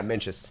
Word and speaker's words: Mencius: Mencius? Oh, yeah, Mencius. Mencius. Oh, okay. I'm really bad at pronouncing things, so it's like a running joke with my Geek Student Quizzers.